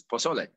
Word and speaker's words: pozole: I thought you were saying cassoulet because it's pozole. Excuse me? Pozole. And then I was like, the accent is on the second syllable.